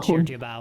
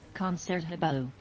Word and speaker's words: Concertgebouw: There's just a G in the middle of that word. It doesn't seem like there should be. Well, it's Dutch for you. Concertgebouw.